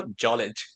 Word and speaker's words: Djolic: Djolic. It's like Djokovic, but it's shortened. If you play tennis, yeah. That's the Aussie version of Djokovic. Just make it shorter, Djolic.